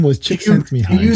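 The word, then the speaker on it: Csikszentmihalyi: By the way, the name we were looking for was it's hard to pronounce. Chick Sent Me High. The guy's name was Chick Sent Me High.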